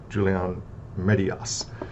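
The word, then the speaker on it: Julián Marías: This is Julian Marias's, I think I'm pronouncing that, Julian Marias. I was getting the accent mark wrong.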